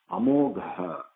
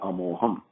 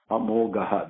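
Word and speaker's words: अमोघः: Now, this, you have to pronounce this correctly. It's not Amoham. Moham is different. Moham means illusion, attachment. Amogaha. This is a Gha coming from in Sanskrit we call it the fourth Gha. We have to pronounce it from the stomach.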